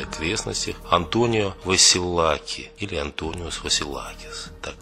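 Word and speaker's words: Αντώνιος Βασιλάκης: основном в Венеции и окрестностях, Антонио Василаки или Антониос Василакис, так произносится.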